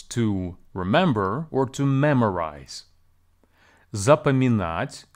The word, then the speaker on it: запоминать: Запоминать has four syllables. За, по, ми, нать. Please be advised that the second syllable по is actually pronounced as pa in the spoken Russian. And the stress here falls on the last syllable.